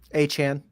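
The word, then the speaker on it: Achane: Jeff, but his running backs are Kyron Williams, Devon, however we're pronouncing his last name this week, Travis Etienne. What? Achan.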